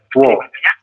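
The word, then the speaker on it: 워: Dibacanya adalah wo, seperti ini. W. Wo. Ya, dibacanya Wo. adalah wo, teman-teman. Betul, seperti itu. Jadi ada vokal U ditambah dengan vokal O, maka kita membacanya adalah wo.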